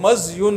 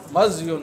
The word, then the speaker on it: مذی: اس کا جو صحیح تلفظ ہے وہ مزیون ہے، میم پر فتحہ اور زال پر سکون. صحیح تلفظ کیا ہے؟ مزیون. عربی میں اب کہیں گے تو مزی کہیں گے. مزی جو ہے یہ جو زال پر ہم کسرہ ڈالتے ہیں یہ اردو والا تلفظ ہے.